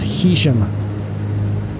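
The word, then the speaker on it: Heysham: I went online and found a pronunciation guide where 2 different sites, they were saying that it's not Haysham, it's Haysham. And then someone who lived out there said it's actually pronounced Hesham.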